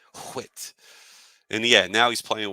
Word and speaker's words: Whit: It rhymes. It rhymes with wit. Whit.